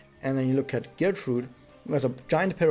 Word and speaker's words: Gertrude: However, also in the anime, we see Gertrude around, or as it would be pronounced correctly, Gertrude.